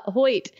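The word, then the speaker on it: Hoechst: how to pronounce this host host or host AG upon its name oh it's pronounced Hoyt got it in there uh Hoyt AG upon its name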